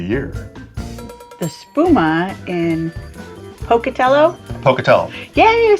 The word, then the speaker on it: Pocatello: beer of the year the spuma in Pocatello Pocatello yay I said it right Pocatello Iowa no